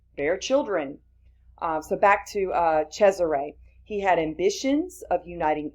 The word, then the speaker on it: Cesare: It says here he observed the political leadership of Cesare, that's how you pronounce that, Borgia, who happened to be the son of Pope Alexander VI.